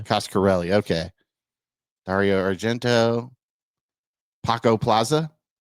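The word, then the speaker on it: Coscarelli: directed the fantasm movies is that how you say his name costarelli yeah costarelli okay Dario Argento Paco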